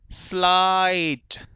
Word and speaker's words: slight: वो जान ले कि जब भी जी एच और टी एक साथ आते हैं तो बेटा जी एच का कोई साउंड नहीं होता, जी एच को प्रोनाउंस नहीं किया जाता, सिर्फ टी को किया जाता है।